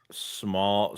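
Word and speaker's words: Smael: Smile. Small. Smile. Mund. Smile. Smile. Mundon. Or smile. Mund. Yeah, they say it. They say it's smile, but it's like sm a l.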